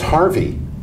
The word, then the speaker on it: Hervey: of the name from H-E-R-V-E-Y, like Hervey Scudder. Yeah, yeah. Because it's Harvey, and that's how they pronounce it.